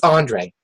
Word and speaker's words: Andre: when I was younger, a lot of grown adults used to call me Andre. And it's just, Andre is just kind of a French name, and, it was always pronounced in a kind of disrespectful way, and that's how I kind of defended myself. It's Andre, Mr. whoever it was.